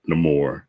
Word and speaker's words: Namor: is in the form of Namor or no more as he's pronounced you know what movie